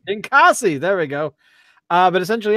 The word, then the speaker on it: Ninkasi: Pronounce it for me, Dave. Ninkasi. Ninkasi.